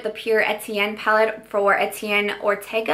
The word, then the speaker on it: Etienne Ortega: Pierre Etienne palette for Etienne Ortega I believe is how you say his name he is a celebrity